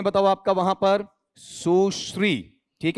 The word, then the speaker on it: सुश्री: बताओ आपका वहां पर सुश्री ठीक है मैं मजाकमज़ाक में कहा करता हूं इसका उच्चारण बिगाड़ मत देना ठीक है ऐसा मत बोल देना ठीक बताओ क्या होता है सु पॉज लो श्री सुश्री ऐसा सुश्री जय ललिता